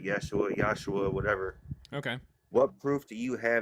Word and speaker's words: Yeshua: This person that died on the cross named Yeshua, however you wanted to spell his name, but pronounced it Yeshua, whatever.